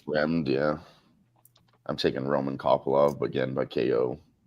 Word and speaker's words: Fremd: Roman Kopylov and Josh, how do you say Fremd or Fred? Fremd, yeah.